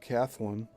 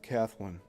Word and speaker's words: Kathlyn: On December 29, 1913, Selig Polyscope debuted the first episode of The Adventures of Kathleen. It's either Kathleen or Kathleen, but it's spelled Kathlyn.